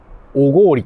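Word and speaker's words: 小郡: 到着しました。2 店舗目、ハードオフおごおりと読むそうです。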